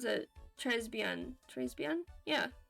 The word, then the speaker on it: très bien: Yeah, you do pronounce it Très bien. Très bien? Yeah, Très bien. You don't pronounce the S in Trey. It's silent.